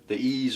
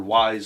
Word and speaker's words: Ys: It says on the back it's a 3D action RPG from the creators of the Ys or Ys series, however you want to pronounce it.